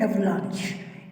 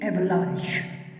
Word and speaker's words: avalanche: अब ये है एवलांच, इसको प्रोनाउंस करते हैं एवलांच, AVALANCHE, एवलांच।